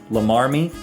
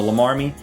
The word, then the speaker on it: Llamarmy: There's some controversy as to how that is actually pronounced, but I'm going to go with Lamarmy.